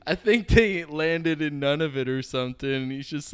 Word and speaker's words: Nunavut: Just so you know, you have to say Nunavut. Nunavut. Because if you say it wrong, I'll get it. Nunavut means our land. There's a way you can say it where it means shit.